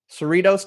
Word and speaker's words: Cerritos: appreciate that there we go how do you pronounce that Cerritos so he'd say that Cerritos California okay cool yeah and Hassan is one